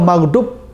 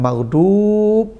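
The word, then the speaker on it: مغضوب: itu cepat bacanya anamta kalau maghdub yang dimarahi ada panjang mad Ya dua harakat maghdub ada panjang bukan gadip tah maghdub itu panjang sesat itu dijadikan enam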